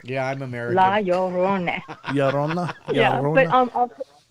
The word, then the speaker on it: La Llorona: La Llorona is how you say it. It's hard to say. You have to roll an R. Yeah, I'm American. La Llorona. Llorona? Yeah, but La Llorona.